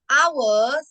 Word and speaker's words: hour: I use I yes the hour we call silent h silent h because it sounds like o that's why we use this